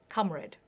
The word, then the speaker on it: comrade: It was pronounced as the words company, comfortable, frontier, and sponge were pronounced with an a. Comrade.